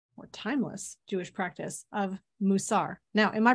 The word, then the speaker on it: Mussar: You are in, you know, according to technical grammatical Hebrew, it is called Mussar. It has come colloquially to be known as Mussar. So either one of those pronunciations is in use.